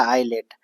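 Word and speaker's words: islet: वो आइलेट होता है, एस क्या है यहाँ साइलेंट है, आइसलेट लिखेंगे लेकिन पढ़ेंगे क्या, आइलेट, ठीक है।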